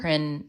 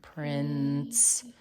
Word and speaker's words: prince: Prince. Prince. The e is not wrong. You're just missing something. What makes a soft s before an e? Soft C.